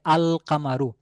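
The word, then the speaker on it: القمر: শুরুতে নিয়ে আসি, তাহলে আল কামারু, তাহলে এখানে আলিফ এবং লাম, এই লামটা উচ্চারণে আসলো আল কামারু।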